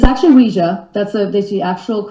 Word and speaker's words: Ouija: of luigi now you say ouija am i mispronouncing or is there some kind of terminology there i should know about it's actually weija that's a that's the actual correct way of saying it people say ouija and once in a while i'll say that